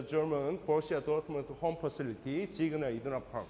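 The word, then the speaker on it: Signal Iduna Park: The kind of German pronunciation, and usually in English, Siegner Iduna Park, but the German pronunciation is Siegner Iduna Park.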